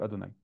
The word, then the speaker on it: Adonaï: Le tétragramme, on ne prononce pas. Le tétragram, on dit Adonai, on le prononcera au